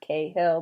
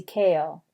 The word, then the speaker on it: Cahill: if you want to if you want to say her name like the movie star people do she said to say it like kale like the vegetable not Cahill but kale Josie kale and she has a